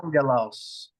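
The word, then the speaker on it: ἄγγελος: What's the second gamma pronounced as? As a gamma. As a G, right? Yes, sir. All right, Okay. so now pronounce it. So it's on ge los. All right. Put it together.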